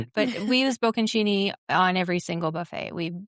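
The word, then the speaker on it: bocconcini: Oh, we do use the bokenchini. How do you How do you say bokenchini? Oh, boaronchini.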